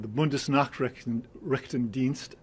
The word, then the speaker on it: Bundesnachrichtendienst: Well, immediately after that, he got a call from his friends at the BND, the Bundesnachrichtendienst, I believe is the way you pronounce it, the German Foreign Intelligence Agency.